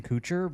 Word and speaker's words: Kutcher: Mila Kunis and Ashton Kutcher but how do you call it a coach well he his name is not Kucher it's Kutcher Kutcher how do you say